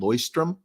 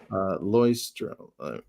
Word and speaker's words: Leuchtturm: So, journal, the #1 journal company is a German company called Leuchtturm, and it's not pronounced like you think. So, let me give you the pronunciation, the spelling. Leuchtturm.